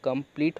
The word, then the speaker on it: complete: कम प ली ट, कंप्लीट हो गया। और यहाँ पे जो ई है वो आपका साइलेंट है, क्यों, क्योंकि वो वर्ड लास्ट में है।